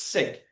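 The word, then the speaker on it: Sikh: They are sik or the proper way to pronounce it is sik.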